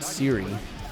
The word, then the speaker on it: Siri: But they're going to go to the bullpen, bringing in Dalbert Siri. Yeah, I did pronounce that right. Just like Apple Siri.